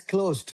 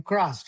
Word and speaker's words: crossed: I heard it as closed. Right. Closed is different from crossed. Right. Crossed. Crossed. Yeah. R. Yeah. Two Rs. Yeah. Yeah. Two Rs. Right. It's different. Two Rs. Crossed.